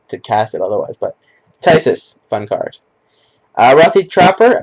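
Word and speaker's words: Phthisis: Okay, this card is pronounced Tysis. Yes, I know that there's not like a Y in there, but it's pronounced Tysis.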